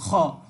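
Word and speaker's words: خ: একেবারে কণ্ঠনালীর একটু আগে থেকে উচ্চারিত হবে, খ।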